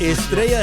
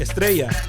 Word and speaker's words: Estrella: gotta roll your R's.